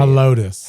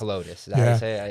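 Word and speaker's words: Helotes: Helotus. Helotus.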